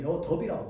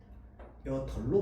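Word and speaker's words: 여덟: 리을 비읍 여덜이라고 발음하나요? 여덥이라고 발음하나요? 여덜로 발음한다. 그렇지. 자, 그래서 리을 비읍은 리을로 발음합니다.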